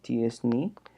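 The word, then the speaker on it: t-SNE: Y por último, una técnica más sofisticada que se llama T-Distributed Stochastic Neighbor Embedding, que se pronuncia TSNE, ¿no?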